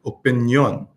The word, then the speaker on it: opinión: So we say in English, opinion, but in Espanol, you can see where they have the accent on the O. So whenever you see an accent, you have to stress that part of the word.